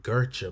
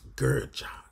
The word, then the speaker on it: Gertcha: saying it wrong it's i was saying gercha but it's not gertrude it's gurjah good job good job